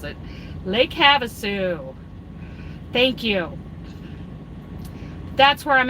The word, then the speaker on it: Havasu: I don't know how to pronounce it. Lake Havasu.